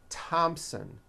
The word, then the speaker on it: Thompson: spelled with a th they are pronounced as if they were spelled with a normal T like that and these words are Thomas Thompson Theresa Thailand Thames like